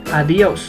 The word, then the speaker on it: adiós: The most common way to say goodbye in Spanish is using adiós, like this. Adiós. Adiós, Ana. Try not to pronounce adiós, but adiós.